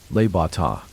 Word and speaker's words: Le Bon Temps: Tony suggested we all go to a little restaurant just slightly out of the area, called Le Bon Temps, pronounced Le Bata.